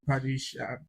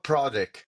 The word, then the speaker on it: Pravdic: Pradesh is the am I right with the pronunciation? Pradesh, is it? Romano Pravdic.